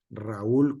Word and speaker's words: Raúl: Sin embargo, nosotros en el español, en la pronunciación correcta de ese nombre, el acento va en la U, la sílaba fuerte, y por lo tanto, se dividen en dos sílabas.